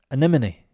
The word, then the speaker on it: anemone: or who works for flowers em no sorry a n e m o n e anemone anemone so um this start uh here the a is actually pronounced like an ER like uh anime and